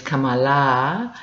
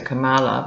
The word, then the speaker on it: Kamala: Apparently, an Indian friend of mine said the correct pronunciation is Kamala, and I don't know if she winces every time everyone calls her Kamala, but it's going to